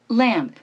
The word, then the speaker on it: lamp: 자, L 사운드는 어떻게 발음한다고 했죠? 혀 끝이 윗니 뒷 잇몸에 닿으면서 렐렐레 lamp, 렐렐레 lamp라고 했죠. 자, 원어민 발음 들으면서 따라해 보시겠습니다. ramp, ramp, ramp, ramp. 그 다음에 lamp, lamp, lamp, lamp.